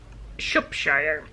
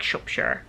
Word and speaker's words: Shropshire: to pronounce it and a lovely viewer pointed out to me she is actually from that region and she said you say it more like shopshere and that makes sense